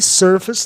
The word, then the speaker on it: surface: No final de palavras com mais de uma sílaba, não soa ace na maioria. Face tem uma sílaba só, está no sistema vogal consoante E, e surface tem duas sílabas. Por isso que o ACE é atonizado, obedecendo a regra do grupo sufixal ACE, átono, is, surface.